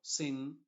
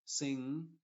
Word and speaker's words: sing: Por ejemplo, sing no se dice sing, la G no se pronuncia, siempre se tiene que pronunciar como sing, con una N nasal, long, song, strong, ring, hung, lung, king, rung.